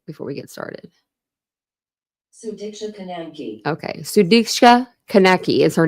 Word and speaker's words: Sudiksha Konanki: Sudiksha Konanki.